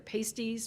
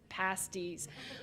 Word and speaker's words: pasties: pasty, a shibboleth, because most people see the word pasty, and they want to say pastry or pasties, which are not the same thing at all. And I have evidence of that. I don't have it here, but there's a magnet you can buy at tourist shops that says it's not pastries, it's not pasties, it's pasties, Yooper food of the gods.